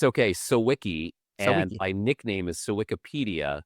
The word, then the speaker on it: Sawicki: Sawicki and I nickname it Sawicki-pedia. So it would because it's a good rhymes or sounds like So that's how you know how to say it. Sawicki rhymes with Wikipedia.